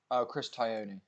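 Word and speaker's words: Chris Tognoni: How do you pronounce the referee's name? Chris Tyone.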